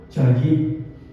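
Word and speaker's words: חיל: La palabra virtuosa en el original de hebreo se pronuncia chay que significa mujer fuerte emocionalmente, mujer valiente para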